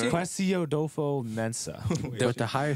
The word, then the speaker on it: Kwesi: Not even attempting to pronounce that. It's Kwesi. Hey, no, it's Kwesi Odofo Mensah.